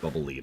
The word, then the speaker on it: Bubble Lead: Yes, I know it's officially supposed to be pronounced Bubble Lead. I don't care.